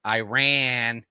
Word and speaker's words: Iran: It is that it bums me out when I hear Iran, or Iraq. No, it's Iran and it's Iraq. It's as if it has two R's, guys.